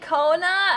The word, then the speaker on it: Kona: mhhm big tun true I said Kona I did say Kona yes because that's how you say it and anyone who says